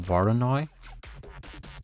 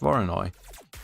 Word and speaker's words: Voronoi: create a foreign first oh no wait it's pronounced varanoi well apparently it's pronounced voronoi okay and that's our our cracks right so